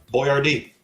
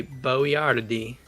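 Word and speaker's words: Boyardee: what Italian American Chef misspelled his name on his product so that people would pronounce it correctly stevenh Boyard d That's Chef Boyard oh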